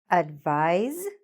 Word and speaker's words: advise: tricky about this that even though it's written with an s we pronounce it like a z or zed could you advise me